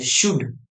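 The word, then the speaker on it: should: ओ यू एल डी जसं याच्यात के silent होतं ना तसं याच्यात एल सायलेंट असतं याला वाचायचं शुड याला वाचायचं शुड एस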